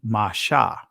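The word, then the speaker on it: משה: So we'll see here that Moses' name is actually Masha.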